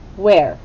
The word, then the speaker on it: where: elbows up where okay begins with a wh then it has the e sound and this one's tricky because it has the r but then there's a silent e where now the wh sounds like what sound that's right sounds like w what about the e yeah that's that one's right it sounds like a short e and then we hear the r do we hear the e on the end no we don't where write the word